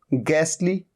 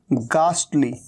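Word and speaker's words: ghastly: गैसली, गैसली में तो इनफैक्ट ट का भी साउंड नहीं आ रहा है। तो एक तरीका तो इसे प्रोनाउंस करने का ये होता है, और दूसरा होता है गास्टली, गास्टली।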